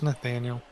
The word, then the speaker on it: Nathaniel: Is it Nathan or Nathaniel or is it just me? No, it's Nathaniel.